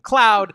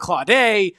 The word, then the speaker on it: Claude: I kept calling him Desmond Cloud. Desmond Claude.